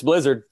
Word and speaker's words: Blizzard: Is it Blizzard or, you know, my preferred way, Blizzard? Depends on what country you're from, but it's Blizzard.